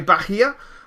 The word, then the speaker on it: Bahia: imports and exports, and he was saying, yeah, Bahia is correct, and so hopefully I have got that pronounced correctly, so I'm quite happy.